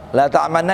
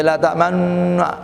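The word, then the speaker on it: لا تأمنّا: La ta'manna ini isma dalam bahasa Arab. Ini harus kalau ngaji, perhatikan nih surat Yusuf. Bacanya la ta'mannu, harus monyong. Cara bacanya bukan la ta'manna, tapi la ta'mannu.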